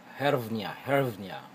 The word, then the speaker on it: hryvnia: I mispronounce it. It is hryvnya from Ukraine.